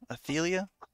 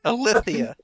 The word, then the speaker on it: Alithia: Athelia? Yeah, everyone gets it wrong. They're for sure. Do not fret. Athelia. No. You said it right the second time. Alithia.